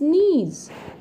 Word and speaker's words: knees: He sat on his knees. In the sentence given above, notice the sound of the letters KN in the word knees.